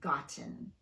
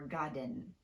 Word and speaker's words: gotten: For these, we use a glottal stop in place of the T, and that's a topic for a whole other video. If you have trouble using the glottal stop, it's safe to just fully pronounce the T. So it's fine to say cotton, certain, written, and gotten, but not codden, certain, ridden, or godden.